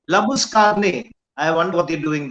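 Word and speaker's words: Labuschagne: It's Labuskagne. He's a South African and his name is Labuskagne. So whatever Right. the Australians do, they call him Labushane because they can't pronounce his name.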